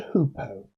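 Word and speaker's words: hoopoe: This bird is a hoopo. Or at least that's the way I have always pronounced it.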